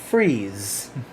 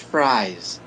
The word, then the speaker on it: fries: What are freeze? What do you mean, freeze? This thing here. Timbo, that's pronounced fries.